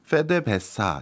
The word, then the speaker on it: PDVSA: 그 베네수엘라 가다 보면 이제 주유소에 제일 많이 보이는 간판이 PDVSA 그 나라 현지 발음으로 하면 페데베사 이렇게 부르거든요.